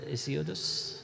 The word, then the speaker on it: Hesiod: I would say everybody except Homer and Hesiodus. How do you pronounce in English? Hesiodus?